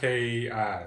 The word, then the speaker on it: Reiki: Ryki, basically.